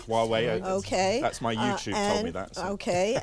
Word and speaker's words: Huawei: of this company you're not even sure I'm pronouncing it correctly why Huawei Huawei okay that's my usage okay and they only